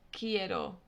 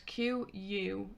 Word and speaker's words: quiero: quiet it's q u in spanish you don't pronounce the u it's just a k sound for example quiero the word quiero means i want you would say quiero and it's q-u-i-e-r-o quiero or for example